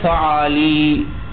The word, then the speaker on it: فعالی: یہ فعالی جمع بنا دو. کس طرح فعالی کو تلفظ کر لیں گے؟ دو فعالی بفتحتین وکسر اللام، فاعل کو فتحہ لام کو کسرہ اور یا آخر میں مشدد.